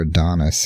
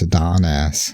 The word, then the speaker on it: Adonis: words out now yeah it's no longer Adonis it's a Don ass so I don't know